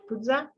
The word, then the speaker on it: puja: for sure you know, the word puja or puja. Tibetans pronounce it puja.